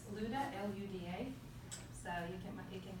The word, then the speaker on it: Luda: it might be a little bit difficult to pronounce. For short, it's Luda, L-U-D-A.